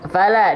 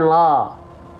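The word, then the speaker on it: فَلَ: Fala, dibuka mulutnya ya. Jangan lupa lam itu huruf yang tipis. Ya. Lam itu huruf yang tipis. Oke? Fala. Nah, sambil senyum. Fala. Ya, bukan lo. Oke? Sip. Ya. Jadi dilafalkannya sambil senyum. Jangan dilafalkan lo tapi la.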